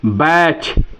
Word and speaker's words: batch: जब किसी जो है वर्ड के अंत में जो है TEN आए या TCH आए, तो उस टी का जो है प्रोनाउंसिएशन हम नहीं करते हैं।